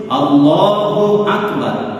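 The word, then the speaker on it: الله أكبر: সঠিক নিয়মটা শিখে নিতে হবে আমি আবার বলতেছি আল্লাহু আকবার এই আল্লাহু শব্দের উচ্চারণে কেউ যদি আল্লাহু এই আলিফকে লম্বা করে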